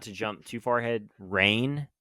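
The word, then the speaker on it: Reyne: jump too far ahead, Rain is how they say her name. Princess Rain, the one who you find out is a princess. R E Y N E.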